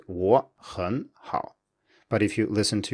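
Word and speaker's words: 我很好: So if you have a simple phrase like 我很好, as in I'm good, this will usually come out as two rising tones followed by a low tone in natural speech, so it's 我很好.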